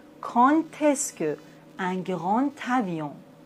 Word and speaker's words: grand avion: insectes, mes nouveaux élèves, un grand avion. Mais attention, j'ai dit un grand avion dans la liaison. Le D se prononce T.